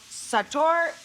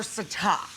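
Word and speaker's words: sataw: I don't know how to speak Thai, but they're called sator or sata. I've seen it phonetically spelled S-A-T-A-W and S-A-T-O-R.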